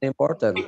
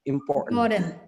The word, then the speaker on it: important: Ah, bukan important bacanya important. Import. Jadi ketika kita bilang import e langsung ditahan.